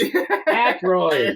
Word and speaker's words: Aykroyd: How the fuck do you pronounce this? Aykroyd.